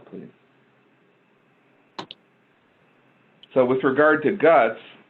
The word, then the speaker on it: GHUCCTS: go so I'm representing guts which is spelled gh UCC TS and pronouncing the acronym the seas are silent however you'll notice that